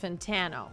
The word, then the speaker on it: Fantano: rude but I believe his last name is pronounced fantano fantano fantano fantano Anthony